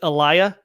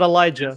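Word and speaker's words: Eliah: Just like his first name is Elia, not Elijah.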